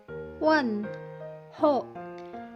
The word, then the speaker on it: 问候: Wen ho. Wen itu diisi dengan nada keempat atau tise sheng. Ho juga nada keempat. Jadi bacanya adalah wen ho.